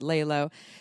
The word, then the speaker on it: LELO: said this right layla it's l-e-l-o but we pronounce it layla they have some really